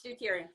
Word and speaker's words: deuterium: It's deuterium.